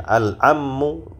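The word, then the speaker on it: العم: utusan kemudian alammu ya alammu dengan mentasdid huruf mim alammu Paman ya Paman dari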